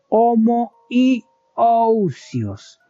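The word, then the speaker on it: homoiousios: Y hay una tercera palabra que se pronuncia de esta forma, homo yos con una i entre las dos o.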